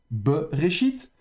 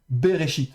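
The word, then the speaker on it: בְּרֵאשִׁית: la Genèse comme ceci, Beréchit, donc comme ça ça s'écrit et bien ici vous entendrez certaines lectures dire bechite ou vous entendrez le des lecteurs dire béchite.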